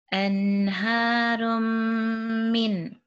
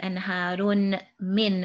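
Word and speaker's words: أنهار من: Anharum min. Anharum min. So your lips are just together. You're not actually pronouncing the tanween like anharun min, as if they're two separate sounds. Now they become one sound.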